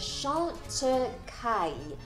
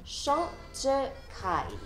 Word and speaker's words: Chantecaille: te， so it's clé de po bo te。第二個品牌就是 Chant Tu Kai，這個品牌的創辦人就是一位法國人，所以這個名字就是他的姓來的。第一個音是用 SH 發出來 Chant Chant。第二個音就是 Tu，跟之前的 Z 有點相似，但是今次就加個 T 在前面 Tu Tu。第三個音就是跟普通話的開字的聲音有點相似 Kai Kai，但是個尾音就要合翻埋棚牙嘅，so it's Kai Chant Tu Kai Chant Tu Kai。下一個是法國品牌嬌蘭嘅。第一个音就是广东话的嘅字，再加用喉咙发出来的 R 音嘅嘅。第二个音就是 long，个尾音是加少少鼻音的 long，